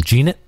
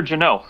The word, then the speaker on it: Jeannot: Jeanette? The rookie for the Predators. Oh, Tanner Jeannot.